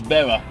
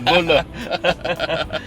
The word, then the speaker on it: Bula: I thought it was Bera. Bera. Bera. Oh, Bera. To me, no, Bula.